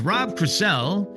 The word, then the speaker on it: Rob Crisell: My guest is Rob Crisell. Hello, Rob. Welcome to the podcast. Did I say your name right? Yes, you pronounced it correctly.